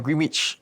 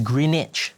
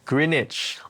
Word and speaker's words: Greenwich: Green witch. Oh, how do you pronounce it?